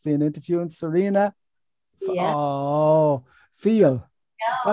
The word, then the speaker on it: Fiel: Oh, Fiel. Is that how you pronounce it? Fiel? Fiel.